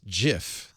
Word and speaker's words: Jif: By the way, peanut butter brand Jif has tweeted, "It's pronounced Jif," just in case there was any confusion.